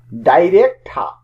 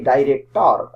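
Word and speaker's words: director: ডাইরেক্টর, British উচ্চারণ, আমরা বলে থাকি ডাইরেক্টর।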